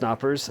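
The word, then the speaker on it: Knoppers: I think it's pronounced Knappers.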